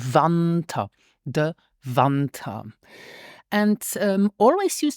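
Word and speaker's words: Wanter: Now, the winter starts with the letter W, and this is pronounced like a V in English, like in view. So we say winter, the winter.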